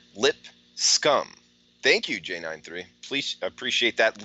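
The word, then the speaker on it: Lipscomb: the verdict online and it's pronounced lip scum thank you j93 appreciate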